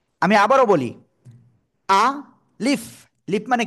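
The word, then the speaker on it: ألف: জায়গা থেকে উচ্চারণ হবে আলিফ অক্ষরটা উচ্চারণ হবে মুখের খালি জায়গা থেকে আমি আবারো বলি আ লিফ লিফ মানে কি ঠোঁট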